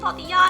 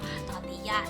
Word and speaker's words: tortilla: is the flour tortilla You read it is 'tor-tia', not 'tor-ti-la' I don't know if there is anyone like me I couldn't pronounce it so I just say 'tor-ti-ya' 'ques-sadi-ya' But no!! It is actually 'tor-tia' 'quesa-dia' 'burrito' ~ They grow a